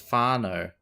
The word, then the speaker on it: whānau: One now, pronounced Fano, is a Māori word primarily meaning extended family.